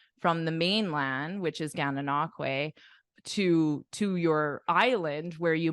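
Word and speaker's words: Gananoque: The correct pronunciation is Gana Nakwe. This is pronounced Kwe. Way. Kwe at the end, and then Gananakwe.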